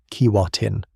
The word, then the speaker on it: Keewatin: Keewatin, Keewah-tin.